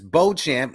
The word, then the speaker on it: Beauchamp: Last name is Beauchamp, one of those Puerto Ricans with a French last name.